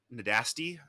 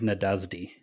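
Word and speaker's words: Nádasdy: to count finr Nas nadasi I keep it's pronounced fank nadasdi Fink okay I was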